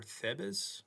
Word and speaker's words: Thebes: Yeah, Thebes or Thebes. I'm not sure how to pronounce that. We can find out. Thebes. Yep, it's pronounced Thebes.